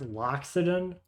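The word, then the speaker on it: Loxodon: This one being a is it is it pronounced Lockxodan?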